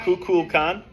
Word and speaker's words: Kukulkan: You missed the L. Yeah. I didn't say the L. No, Is it's it all right. Kukulkan?